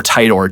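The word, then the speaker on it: Titor: the name John I don't know how it's pronounced teeter or tidor t i t o r he has a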